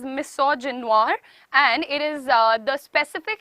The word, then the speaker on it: misogynoir: Now this is pronounced as misogynoir and it is the specific hatred, dislike.